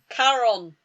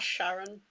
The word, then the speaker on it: Charon: So I'm wondering, this fic is about Charon and the how do you pronounce it? Charon. Not Sharon.